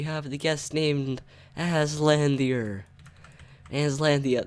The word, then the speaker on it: Aslandier: Aslandia, that's how you say it.